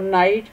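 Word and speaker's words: knight: जी और एच, और नाइट में के और जी एच।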